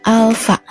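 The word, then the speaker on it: α: Nah, di sini ini dibacanya bukan A ya, tapi alfa.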